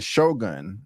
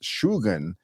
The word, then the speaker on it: Shogun: with the pronunciation um I'm used to saying Shogun but it's actually pronounced shugan a supreme military commander equivalent to a Duke